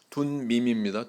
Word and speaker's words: 둠밈: 근데 아까 마지막에 보니까 우림과 둔밈 발음도 힘드시죠? 둔밈입니다. 둔밈.